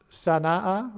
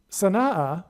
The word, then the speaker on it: Sana'a: Yemen, Sana'a, I believe, based on the apostrophe between the two A's, I believe it's pronounced Sana'a, okay?